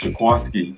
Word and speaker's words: Jaquiski: It's spelled Jaquiski, but they said it's pronounced Jaquiski.